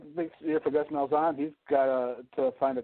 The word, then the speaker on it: Malzahn: Malzahn. Malzahn.